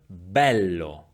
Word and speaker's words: bello: We find the open E in the word bello, bello, while in the word neve, neve, the E is closed, neve.